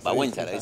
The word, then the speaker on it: Wałęsa: Con Lech Wałęsa. Wałęsa, se dice en polaco.